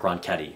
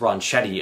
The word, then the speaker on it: Ronchetti: County Commissioner Jay block and former meteorologist Mark ronketti which I pronounced Ron Chetty in the tech talk but I'm correcting my